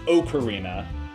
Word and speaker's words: ocarina: we always like corrected them, like, no, it's pronounced ocarina.